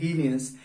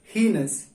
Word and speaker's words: heinous: अधिकतर लोग इसे गलत पढ़ते हैं। ज्यादातर लोग इसे बोलते हैं हीनियस। It's wrong. दरअसल इसका सही प्रोनाउंस है दैट इज हीनस।